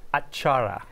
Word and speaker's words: atchara: It also had, and I don't know if I'm pronouncing it right, is it acharya? Achara.